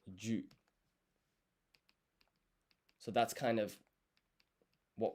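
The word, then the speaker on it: じゅ: And so this ji and yu, it's not actually pronounced ji and yu, it's a blended syllable pronounced ju.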